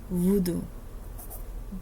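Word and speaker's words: Vodou: The Lion in the tribe of Judah, the root of David, root work, aka voodoo. VODU. Not VOODOO, none of that. VO apostrophe DU. Voodoo. That's how it's pronounced.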